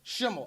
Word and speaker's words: Schemmel: how do you say your last name promotional Chimel I always said it right there I've always